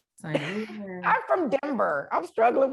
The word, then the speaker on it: St. Louis: I just didn't know how to do Saint Louis, San Luis. San Luis. San. Say it like Nelly would. St. Louis.